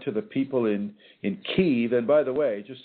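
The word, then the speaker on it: Kyiv: is reaching out to the people in in Kei and by the way just so you know it's it's not pronounced Kev it's pronounced ke and and this was given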